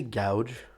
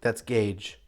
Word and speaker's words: gauge: You'd think I was fucking Pinhead back Did you say gouge? then. Yes, it's his gouge. That's gauge. Whatever. Like the gauge of a ring.